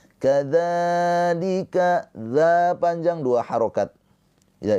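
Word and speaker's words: كذلك: Kadzalika dza panjang dua harakat mad thobi'i.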